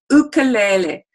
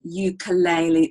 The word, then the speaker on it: ukulele: means jumping sleep and it's actually pronounced in Hawaii luke'll le ukulele now we've kind of emphasized that and particularly in Australia we tend to say ukulele or the uke okay